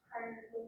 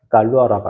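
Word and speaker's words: Galois: 갈수 불어야 불어 불어갈 수 갈루아라고 합니다. 어 무음이에요. 불로에서는 갈루아라고 읽고 갈루아 갈루아라는 수학자가 있는데이 사람은 몇 살이 죽을게요?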